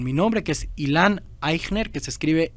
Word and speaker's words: Eichner: en linkedin con mi nombre que es Ilan aigner que se escribe e ic h n e r ahí